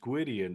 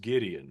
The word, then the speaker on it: Gwydion: It's accurate because it's incorrect. It would be pronounced Gwydion if you were to pronounce it Welshly, but I was raised with it being pronounced Gideon, which is technically incorrect, but that is my true name, essentially.